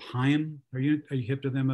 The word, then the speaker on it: Haim: It's H-A-I-M. It looks like Haim. But it's pronounced Haim.